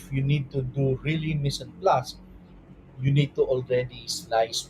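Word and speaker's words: mise en place: and the term is Miss and plus that's that's how it is pronounced it's not mice and place it is not that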